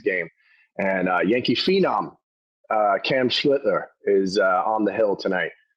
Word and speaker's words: Schlittler: If Cam Schmittler, how do you say his name? Schlittler.